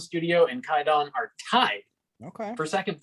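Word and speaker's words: Kwaidan: Walk with Me, and correct me if I'm pronouncing this incorrectly, but it's spelled Quidon, but I'm wrong. It's Kaidon, right? Yeah, it's Kaidon.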